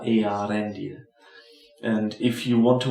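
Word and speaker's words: Eärendil: background tend to say the E and A together as a diphthong. But it's really one vowel after the other, Earendil.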